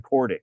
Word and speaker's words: Kordic: Pocek or whoever, John Kordick, whoever. Hey, John, I just want to make, is it Kordick? Yep, it is.